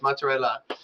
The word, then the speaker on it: mozzarella: Like, literally, it's not mozzarella. It's mozzarella.